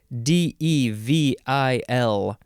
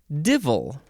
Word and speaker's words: devil: Devil. I guess some people pronounce it divil. Devil or divil? Who says divil?